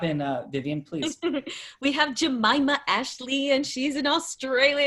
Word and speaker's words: Jemimah: And it's pronounced Jemimah, correct? It is. Really easy way to remember. Aunt Jemimah. Oh, very easy way to remember. Well, Jemimah, thank you, coming all the way from Australia.